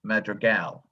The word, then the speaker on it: Madrigal: the word was that his last name is pronounced madrigal accent on the last syllable not like the ancient english music magical but the metro gal kind of disappeared when